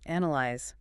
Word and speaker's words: analyze: Analyze. Where's the stress? This one is analyze. The stress is firmly on the very first syllable, not A-N-A. Hear that crisp A at the start.